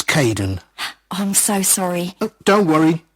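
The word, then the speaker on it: Kaeden: welcome to the team hi Aiden uh it's Caden I'm so sorry don't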